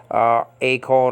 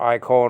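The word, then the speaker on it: εἰκών: I mean, I pronounce this a. Some people pronounce it I, the diphthong there in front of the kappa for for image. So I mean, with a soft breathing marker A or I, or it doesn't change anything. I mean, you're not changing this. You're not changing the function if you're saying a cone or I cone or whatever the case may be. The modern Greeks will pronounce this as E.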